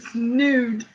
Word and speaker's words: snood: aood yes a snood I had to make sure I said it right so that's why I was saying snood D emphasize the D yes I am making